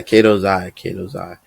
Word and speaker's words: Katozai: Yeah, Katozai.